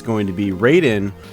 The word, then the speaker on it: Raiden: it's going to be Raiden or ryen as it's properly pronounced on the Atari Jaguar